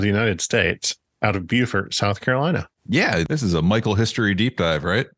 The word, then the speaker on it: Beaufort: But this story takes place in Beaufort or starts in Beaufort, South Carolina. And I want to note, I know that Beaufort, North Carolina, and Beaufort, South Carolina, are spelled the same, but they're pronounced differently.